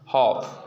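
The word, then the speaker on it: half: यफ कहते हैं तो डी, एफ, के, एम से पहले यल साइलेंट होता है। जैसे कॉफ, हॉफ, ठीक ना, कॉफ, हॉफ, ठीक ना, बहुत से होता है आपका, ठीक ना।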